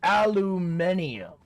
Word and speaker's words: aluminium: Is it aluminum or aluminium? It's pronounced both ways.